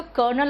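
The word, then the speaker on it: colonel: एफ नहीं होता इससे सही प्रनंसीएशन है तो करनाल और लेफ्टिनेंट स्पेलिंग याद रखना है तो कॉलोनियल और लुटिनेंट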